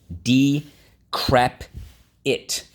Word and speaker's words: decrepit: even sometimes right okay decrepit d crap it decrepit again think about creepy creaky right let's go first syllable d second syllable crap third syllable it decrepit think about your shoes